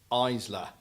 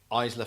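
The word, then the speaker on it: Ilsa: pronounce her name because it looks like Isla but it's not either is it well I don't think it's cuz cuz you you may or may not have someone close to you that has the same name yeah I actually think it's iyslah iyslah Faust I think it's pronounced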